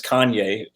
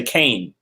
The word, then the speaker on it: Kanye: Yeah, one time it was like before everyone knew it was Kanye, people used to say Kane.